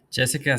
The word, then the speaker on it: Gessica: Jessica with a G because people like um usually they spell it with a J.